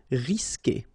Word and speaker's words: risquer: Q, and after that, you want to put a vowel like E, for instance, you will always need to put this U here between the two, but then you don't pronounce it. So the sound you will get here, for instance, is K. Okay, you don't pronounce the U, so risquer.